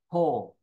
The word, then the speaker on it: pause: No pause. Lưu ý ghi chú sao nha, đừng có đọc là au nha các bạn, đừng có pau nha.